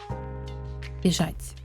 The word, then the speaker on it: бежать: And the end result should be B. B. Sh. A. Accent A. Default A. And soft T sound. Бежать.